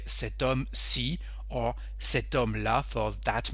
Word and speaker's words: homme: This man, we say cet homme. Why? Because the H is silent in this word homme, so it's like a vowel.